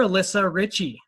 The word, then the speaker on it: Alyssa Ritchey: So you're Alyssa Ritchey. That's how you pronounce it, right?